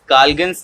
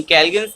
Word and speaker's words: Calgon: तो हमारे पास सबसे पहला मेथड आता है दैट इज काल्गन्स मेथड, यानी कैल्गन्स मेथड इसलिए कहते हैं कैलगॉन। इसका एक्चुअली जो प्रोनाउंसिएशन है वो होना चाहिए कैलगॉन।